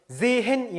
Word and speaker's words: sehen: 그리고 에 뒤에 모음 뒤에 하가 나오면 앞에 있는 모음을 길게 발음해요. 그래서 sehen이 아니고 sehen 이렇게 발음합니다.